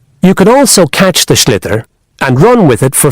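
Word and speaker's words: sliotar: this ball called a schlitter that's SL l i o t a r so it's not spelled the way it's pronounced you hit it into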